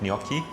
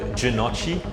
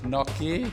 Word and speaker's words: gnocchi: is our business gnocchi be pronounced so many different ways we've heard junochi we've heard gennaki we've heard uh noki noki or noki some say noki something gnocchi the proper way is you really have